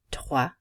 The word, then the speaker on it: trois: Trois, the S is not pronounced.